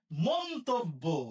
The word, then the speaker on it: মন্তব্য: মন্তব্য আমরা বলি মন্তব্য। আমরা মন্তব্য বললে ভুল হবে। তাহলে কি হবে? মন্তব্য মন তব্য এখানে হসন হবে মন্তব্য।